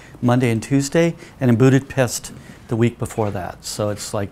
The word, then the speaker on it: Budapest: And it's not even pronounced Budapest. It's Budapest. So when you say Budapest, they all look at you like, can't you talk?